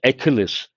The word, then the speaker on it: Achilles: How do you pronounce this? Achilles.